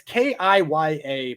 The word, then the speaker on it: Kaya: It's Kiya, but it's Irish, so you got to imagine it's like Mike. It's just it's exactly.